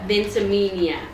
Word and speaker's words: Ventimiglia: Ventimiglia.